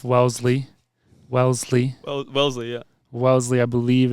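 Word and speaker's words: Wellesley: my mispronunciation of Welsley Wellsley well Wellsley yeah Welsley I believe it's pronounced and I I mean mean look I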